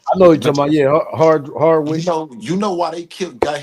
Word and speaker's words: Hardwick: to bounce back because you think about Amari Hardrick, is that am I Yeah. saying it right? yeah. I know you're talking about Hardwick You know why they got him out the